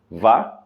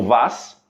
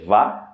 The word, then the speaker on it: vas: ok a palavra vá tem um s no final que é mudo Ok portanto para você aí vá Ok e não Vaz ok É vá e é importante